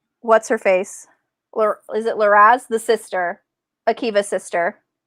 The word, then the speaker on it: Liraz: Is it Laraz, the sister, Akiva's sister? How do you say her name? Liraz? I don't know. Okay, so it's Akiva. No, it's Liraz.